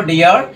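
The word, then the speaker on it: dear: উচ্চারণ করা শিখতে হবে সো দেখো ডিয়ার এখানেও কিন্তু এই যে এ আর এটা কিন্তু ইয়ার এর মতন সাউন্ড পড়েছে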